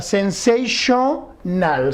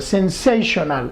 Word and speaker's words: sensational: Sensational. Sensational.